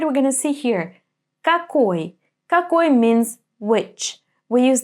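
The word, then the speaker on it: какой: the first word we're going to see here kakoy kak means which we use this question when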